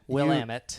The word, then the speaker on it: Willamette: Was a Portland paper called the Willamette Week, or however you pronounce it. Willamette.